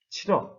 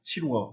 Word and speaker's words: 치러: 그렇기 때문에 를 탈락시켜서 담가, 잠가, 치러 이렇게 말을 해야 합니다. 뒤에 담궈, 잠궈, 치루어 이렇게 했으면은 잘못된 것입니다. 특히 제일 마지막에 있는 치루어,